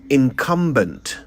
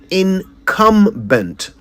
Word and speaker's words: incumbent: we don't want to hear however is terrible mispronunciation for example the word is incumbent incumbent i n c u m b e n t incumbent not incumbent the word incumbent originates from the